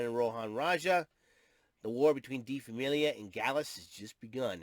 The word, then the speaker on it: Die Familie: Is Famile, Die Familie, but it's pronounced Die Familie.